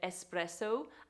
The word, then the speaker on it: espresso: Italian viewers um but this is to be said espresso and not espresso there's no X in the word our final word that